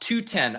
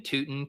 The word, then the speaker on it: Tuten: Apparently it's pronounced 210. Okay, this is good to know. This is good to know. Yeah, I actually think I knew that. I was still just saying Tuten because it's funnier.